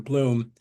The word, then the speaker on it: Blum: Arlene um Arlene Bloom that's the way she pronounces her last name Bloom it looks like blo but in any case